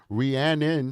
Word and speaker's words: Rhiannon: Rhiannon, she says my name is Rhiannon. You know it's spelled Rhiannon. Rhiannon. This is America. We do speak English. It's spelled Rhiannon, but we will call her Rhiannon because that's what she wants.